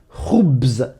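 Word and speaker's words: خبز: Le mot pain en arabe se dit khoubz. Khoubz. Khoubz. Tu entends au début ROU.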